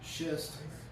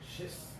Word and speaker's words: schist: does not do that now shist you have to make sure you say that right shist shist shist can have